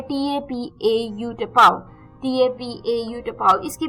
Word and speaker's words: tapau: टेपाओ, जी हाँ, ये भी अटपटा वर्ड है, TAPAU, टेपाओ, TAPAU, टेपाओ. इसकी प्रोनाउंसिएशन थोड़ी अटपटी जरूर है, पर ये भी इंटरेस्टिंग वर्ड है.